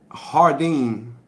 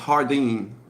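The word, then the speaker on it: jardín: that it's my opinion jardine is hardine jardine is spanish for garden hey okay so it's pronounced hardine okay i got you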